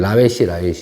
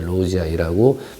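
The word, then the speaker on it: lawesii: 그래서 이게 옛날 라웨시 했었는데 로즈아이라고 발음하는 게 이제 정식 발음이라고 합니다.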